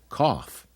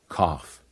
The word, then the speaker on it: cough: light bright at the end of some words gh makes an F sound like in laughs and in tough and rough and even in cough one more time okay laugh tough rough cough one more time one